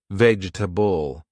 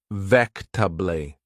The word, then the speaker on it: vegetable: Vegetable.